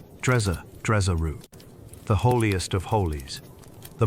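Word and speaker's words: Djeseru: Jezeru. Say it slowly if you like. The syllables are round and soft. Drezeru.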